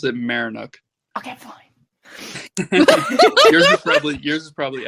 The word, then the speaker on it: Maryinuk: I pronounce it Marinuk.